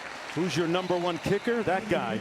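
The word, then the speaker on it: Hauser: It's pronounced Hoosier. Hoosier number one kicker, that guy, Nolan.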